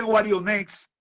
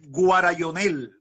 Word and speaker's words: Guarionex: Pero, por ejemplo, este pané, entre los macoríes, el nombre Guarionex, ellos lo decían Guarayonel. Entonces, pero de Guarionex a Guarayonel. La terminación X era L. En la terminación X, entonces ellos la pronunciaban L.